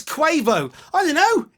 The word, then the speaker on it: Quavo: It's Quavo. I don't know. It's spelled Quavo.